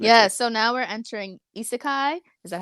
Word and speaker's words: isekai: So now we're entering isekai. Is that how you pronounce that?